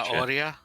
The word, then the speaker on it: zanahoria: According to Golux, or according to Sergeant, you don't pronounce the H in Spanish. Oh, you do not pronounce the H so in it's Spanish? Zanahoria?